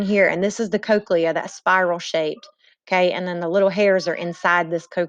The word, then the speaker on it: cochlea: you have the spiral shaped cochlea this is pronounced cochlea it's filled with fluid and it vibrates as